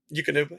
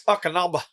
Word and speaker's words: Eukanuba: Eukanuba. Okay, making sure I say that correct. And it's like, got him up there as a team member, you pretty all right. It's Akanaba.